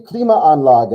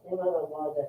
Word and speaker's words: Klimaanlage: Does Klimaanlage have 3 A's in it, or is it It has 3 A's altogether. Yeah, there's a syllable break here, Klima, and then Anlage.